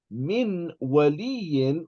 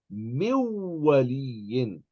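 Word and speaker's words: مِن وَلِيٍّ: Instead of saying min waliyin, we're going to say miwaliyin.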